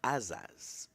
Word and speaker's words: Asad: So, you might want to know why they sing Asad when it's pronounced Asad.